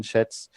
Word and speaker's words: Schatz: Republican Senator Ron Johnson and Democratic Senator Brian Schatz introduced the legislation in the U.S. Senate Homeland Security and Government Affairs Committee. Is this, you say Brian Schatz? Yes. Oh, dear. Thank you. Spelled like the Schwartz.